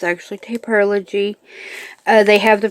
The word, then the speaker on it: Taperlogy: I'm going to do a Taperlogy unboxing, and that's, yes, everyone else pronounces it Taperlogy, but it's actually Taperlogy.